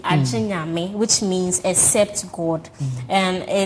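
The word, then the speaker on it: Gye Nyame: Jinyami. People call it Jinyami, but me, when I'm pronouncing it, I like to add the A to it, Jinyami, which means "except God," and it symbolizes the omnipotence of God.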